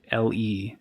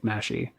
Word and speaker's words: Mashle: Mashle is how it's pronounced, but I've heard a lot of people pronounce it like in English as like Mashy.